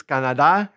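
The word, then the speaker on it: Canadá: Okay, so Canada is Canada, accent on the A, and their nationality is Canadiense, Canadiense.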